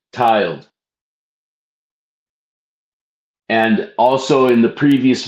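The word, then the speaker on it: tyled: Tiled worshipper worshipful tiled is spelled t y l e d tiled.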